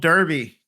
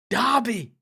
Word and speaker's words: Derby: Uh, next up, we got good old Derby. Dobby. Dobby. Dobby. It's Dobby.